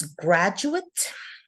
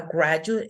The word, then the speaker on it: graduate: So you can see the change in stress and the change in the vowel.